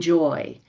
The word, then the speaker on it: Joie: Uh you mentioned my name, Joy. When I was younger, I changed the spelling. As people might notice, it's spelled J O I E.